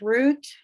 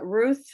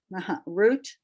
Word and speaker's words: Ruth: dogish at the end the same thing with root uh ruth root is really her name but there's no doggish so we transliterate it as ruth with a th there are other names